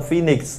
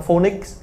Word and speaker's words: phoenix: Đúng rồi, nó phát âm phoenix. Nó có nghĩa là con phượng hoàng nhá. Phoenix Town, vừa ngồi cổ trấn đúng không? Nó nghĩa là phượng hoàng đấy. Và tất cả Việt Nam nó phát âm là phonics. Phonics. Không có xì ở cuối phonics sao cũng bảo em nói từ